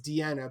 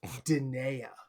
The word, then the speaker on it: Diana: Actually, not really similar, but when I tried to introduce my parents to my ex-wife, her name is Deanna, but it's spelled like Diana because Latin language, things like that.